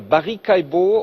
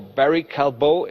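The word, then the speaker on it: Barry Callebaut: In Switzerland, the chocolate maker Barika or Barry Calbo if you want to pronounce it in English reported about strong sales.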